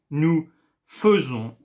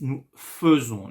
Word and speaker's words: faisons: il, elle, on fait, nous faisons, and again, I know, you know, in pronunciation video, you know that I, E together make the sound E, but here it's nous faisons, not nous faisons.